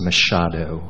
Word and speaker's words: Machado: Although I do believe it's pronounced Machado, Mr.